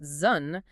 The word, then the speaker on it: Zhun: And hexagram 3, which is pronounced Zhun, is the symbol for initial difficulty.